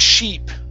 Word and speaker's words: sheep: see ah yes okay the word sheep instead of ship okay give me a long e sound she sheep sheep good